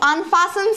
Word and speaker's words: unfasten: Now, T is silent over here.